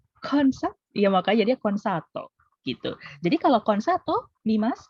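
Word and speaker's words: コンサート: Konseto. Oke. Yakin konseto? Ayo katakan aja. Konseto. Oke. Memang kalau pelafal betul konsato ya. Memang kalau Konsato. pelafalan ya konsato, konsato bukan konseto tapi konsato.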